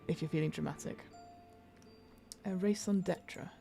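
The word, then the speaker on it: raison d'être: A raison d'etre, right?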